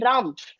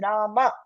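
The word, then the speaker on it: राम: I see many people like Rama also they tell Ram it's not Ram that's not Hindi it's Rama a should be heard okay so we should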